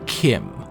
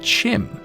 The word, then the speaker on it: CHIM: Bethesda and he said Chim is the cannon way to pronounce Chim with a ch like cheese.